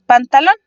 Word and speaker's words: pantalón: Por ejemplo, tenemos pantalón. Pantalón se divide en 3 sílabas, siendo lon la sílaba más fuerte.